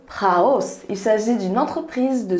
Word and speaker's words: Prahaus: je vais vous présenter la marque prat hausse donc prononcé raus il s'agit d'une entreprise